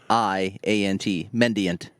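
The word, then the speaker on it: mendiant: the name that is spicy well i can't pronounce the name so we're gonna go with mend mend ayant mendyent m-e-n-d-i-a-n-t mendient but what's before that it was other words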